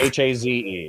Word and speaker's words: Haze: I came to the conclusion that however you like to pronounce it is the best way to pronounce it. So if you like Hayes more, perfect. then it's Hayes. If you like Haze more, it's Haze.